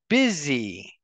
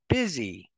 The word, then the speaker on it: busy: or the next stanza we have busy bu u s y busy that will rhyme with dizzy and then tear will